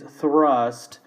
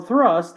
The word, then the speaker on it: thrust: next item which is thrust pronunciation remember the th in English has sound that we do not have in Spanish and that is just putting your tongue between your teeth when you do this